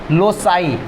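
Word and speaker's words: loci: एक से ज़्यादा, जैसे लोकस है, इसका जो प्लूरल होता है उसको बोलते हैं नॉट लॉकी, लोसाई।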